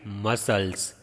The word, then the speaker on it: muscles: You will write down in your notebook soft parts and you will write muscles. MUSCLES, muscles. Here C is silent.